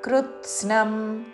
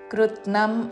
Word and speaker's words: కృత్స్నం: అంగ్ ఉచ్చారణ భూతగ్రామమిమం కృత్స్నం కృ తర్వాత తాకి సావత్తు నావత్తు మూడు చక్కగా వినపడాలి. కృత్స్నం అనకూడదు, కృత్నం అనకూడదు. కృత్ స్నం కృత్ స్నం కృత్స్నం భూతగ్రామమిమం కృత్స్నం అవశం